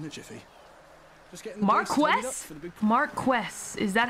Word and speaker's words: Marquess: is typically referred to as an earl or marquis if he holds a secondary title. I prefer dookie. Or Marquess. Marquess? Man, you'll be done in a jiffy. Just getting the Marquess?